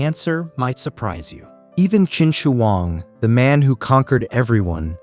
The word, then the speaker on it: Qin Shi Huang: Qin Shi Huang, pronounced Qin Shi Huang.